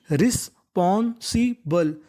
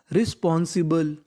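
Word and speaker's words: responsible: बी एल ई को English में पढ़ते हैं बल।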